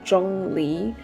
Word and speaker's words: Zhongli: Moving on, we have Zhongli, who's correct pronunciation is actually Zhōnglí and I know that